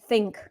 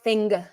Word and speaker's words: thing: Не надо говорить think, говорить thing.